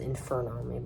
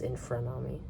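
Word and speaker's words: Infrunami: I keep on mispronouncing Infranami, sorry. As Infernami, but it's Infranami.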